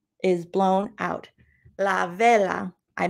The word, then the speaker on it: vela: and with a wisp of air whoosh la vuela is blown out la vela i mispronounced it la vela is blown out vela means candle try saying vela that means candle now you're bilingual too now